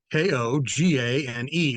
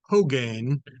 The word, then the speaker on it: Kogane: So, throughout this episode, you hear a reference to Kogane, and it's not Colgate, the toothpaste. It's not Rogaine, the hair product. It's Kogane.